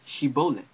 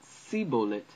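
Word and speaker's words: שיבולת: So what Gideon and his men did was ask the Ephraimites who were passing to pronounce shibolet. So the Ephraimites couldn't pronounce it, so they said sibolet instead.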